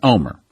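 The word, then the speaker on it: Olmert: I said Omer, but again, the correct pronunciation is Omer, and that's what she heard in the dream, Omer.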